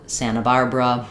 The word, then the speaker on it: Santa Barbara: But you'll notice this international um internet, Santa Barbara, that the NT can often just become only an N sound in the middle.